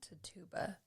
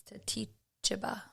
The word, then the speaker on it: Tituba: I'm sorry if I butchered it. Tituba. No. Yeah. It's not Tituba. It's Tituba. Tituba? Mm-hmm. I have Tituba. The way that it's pronounced is Tituba.